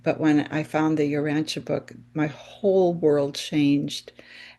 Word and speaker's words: Urantia: First of all, the name is the Uranche book and it's spelled U R A N T I A.